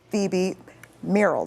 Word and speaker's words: Phoebe Merrill: Joining us now with an inside look at the project, we have Deputy Director and Restoration and River Star Homes Project Manager, Phoebe Merrill.